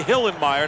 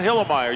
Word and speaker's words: Hillenmeyer: I love that guy you got to say hillenmeyer not hillermeyer you can't be lazy in the pronunciation Goose it's my kind